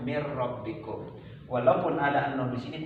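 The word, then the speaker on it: مِن رَّبِّكُم: Nunnya dihilangkan, dianggap tidak ada. Ada tapi tiada. Itu cara bacanya mir rabbikum.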